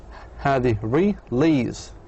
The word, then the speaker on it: release: Two syllable verbs on the last syllable. Release.